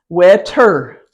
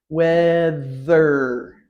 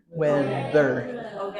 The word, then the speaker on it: weather: have the two together wear her wear her no there's no T sound wetter wetter no there's no h sound weather weather th two sounds together and the accent is on the first syllable weather weather this is